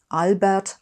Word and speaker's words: Albert: Don't worry about the R in Albert. Just make that an R. Everyone does it and it'll sound just fine. Albert Einstein.